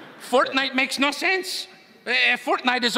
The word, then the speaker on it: Fortnite: Did you say fork knife? It's actually pronounced Fortnite.